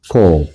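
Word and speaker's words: קוף: 요렇게 일자 내렸다가 코프.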